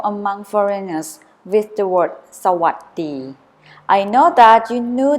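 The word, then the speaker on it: สวัสดี: would like you to pronounce it correctly let's say with me so what D so what the not so us B or so what B after you practice pronouncing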